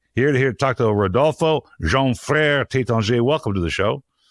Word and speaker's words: Frerejean Frere: And you're the co-founder of Frerejean Frere Champagne.